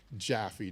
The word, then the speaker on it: Jaffe: It's like the candy taffy, just with a J. Yes, Jaffe.